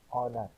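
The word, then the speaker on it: honour: ان لفظوں کو بولیے، سوچیے اور تلفظ یاد کیجیے۔ لڑائی کا جہاز، نیٹ۔ گھنٹہ، آر۔ نفسیات، فزیولوجی۔ معلومات، نالج۔ عزت، آنر۔ پھیپھڑے، وہ پھیپھڑوں کی سوجن، نمونیا۔ لکھنا، رائٹ۔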